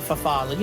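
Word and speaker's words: farfalle: i just threw in the bowtie pasta the fafali as it's pronounced um i also been starting to add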